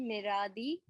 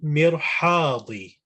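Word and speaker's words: مرحاض: Huwa fil Miradi. He is in the toilet. yeah, that's it. Perfect. Just pronunciation there. So huwa fil mirhadi.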